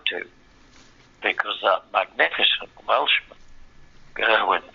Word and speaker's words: Gerwyn: because that magnificent Welshman, Gerwyn Price, or Garwin Price, I have to say it.